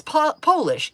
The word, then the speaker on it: Polish: There's even a set where you change the pronunciation by whether or not it's capitalized. I know 2 examples of that: Polish and Polish, Job and Job. If you capitalize it, it's Polish. If it's not capitalized, it's Polish.